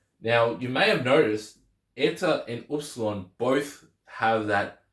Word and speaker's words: eta: have Zeta ETA Theta in modern Greek they're written the exact same but the EA now has an e sound so you have Z itaa so that that's why the name the the sound of the name changes as in the name changes but not the actual sound of the letter except for eer of